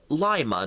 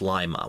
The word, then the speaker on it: Lima: Ohio for instance it's Lima not Lima in Peru it's Lima in Ohio it's Lima we pronounce the eye like pie because we're midwesterners with Midwestern accents and yes we do